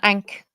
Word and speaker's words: ankh: Look, there's a up here there's an ankh either side. Yeah. Is that teeny tiny little anks? Ank as the Americans say.